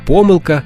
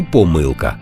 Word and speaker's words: помилка: просто запам'ятати До речі як щодо помилок в однині можна і помилка і помилка а в множині наголос на останній склад А у вас нехай